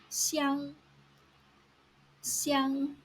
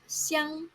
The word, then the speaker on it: 相: 相,相像,像 you use 相 in the first tone when you mean each other or mutually.